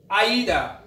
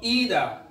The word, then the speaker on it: either: aeroplane or building and the next aida or either both pronunciation exists in british english and move on for